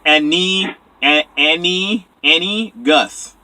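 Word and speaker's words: Anegus: There's an E in it. It's Annie, Gus.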